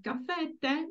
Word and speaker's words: caffè: page Apart from caffè caffè e caffè the Accent Falls on the last vowel so The Last vow